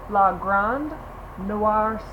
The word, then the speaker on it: La Grande Noir: so you want to make sure you pronounce the d la grande Noir sir like sir like hello sir how are you doing so